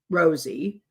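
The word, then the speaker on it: Rozzi: they um baldon and rossie Rosie is how he pronounces it um Richard Allen's attorneys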